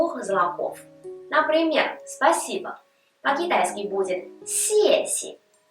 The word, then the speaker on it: 谢谢: Например, «спасибо» по-китайски будет «сеси». В этом слове оба слога одинаковые, но при этом первый слог произносится в 4-м тоне, а второй в нулевом.